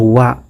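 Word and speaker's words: は: di bab 1 ini ada partikel WA atau dalam hiragananya ditulis huruf A tapi nanti dibacanya kita langsung masuk ke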